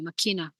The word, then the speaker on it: machina: Some people say it's machina, not machine, actually machina.